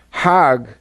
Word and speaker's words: Hajj: Now, Hajj is a pilgrim to Mecca. Hag is the Egyptian pronunciation.